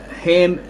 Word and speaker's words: Ham: Ham in the Bible is about k capital k h a m but it's silent.